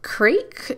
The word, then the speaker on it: Krake: Common names are Krake. It's not Kraken, but it's spelled pretty similar. It's basically Kraken, but without the N. So I'm saying like it's Krak or Krake.